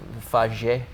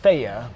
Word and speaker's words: Fage: Is it like fage? It's faya, but it's spelled F-A-G, or it's F-A-G-E, but it's pronounced faya.